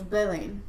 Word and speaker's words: Belen: Because I say as well. So, tell everybody how you really say your name. Well, it's spelled Ethiopian Belen. Mm-hmm. So it's Belen.